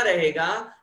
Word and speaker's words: ऋ: तो बड़े बड़े संस्कृतज्ञ व्याकरणज्ञ बोलते हैं हकीकत ये है कि इसका उच्चारण वर्तमान में लुप्त हो गया, किसी को भी नहीं आता। अब परंपरा से अपन इसको री बोलते आए हैं, कै के नीचे री